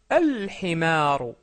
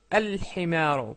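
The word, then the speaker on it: الحمار: Donc himarun, un âne, ça devient, pour dire l'âne, al-himaru, al-himaru. Pourquoi? Parce que le ha est une lettre lunaire.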